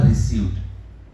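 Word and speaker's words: received: जैसे यहाँ पे रिसीव था, तो रिसीव का मुझे पास्ट फॉर्म करना है, तो मैं कहूंगा रिसीव्ड। क्या कहूंगा मैं? रिसीव्ड। उसमें द बोलना है लेकिन साइलेंटली बोलना है, रिसीव्ड ना, ये बिल्कुल ठीक नहीं है।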